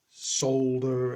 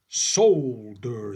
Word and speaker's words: solder: it with some solder solder as we call it here Soul dur sounds like a a scene out of coming to America Soul glow okay we're GNA stick